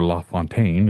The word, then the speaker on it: La Fontaine: but the town of Le fountain or La Fontaine is how it would be pronounced in French that whole area was